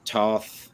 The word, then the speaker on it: Toth: saw that had that almost like classic Alex Toth. Am I pronouncing that last name correctly? Alex Toth, yeah.